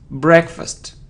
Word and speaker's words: breakfast: So psychology, psychology, we don't pronounce P. Psychology. So it isn't breakfast, breakfast, or it isn't breakfast, it's breakfast.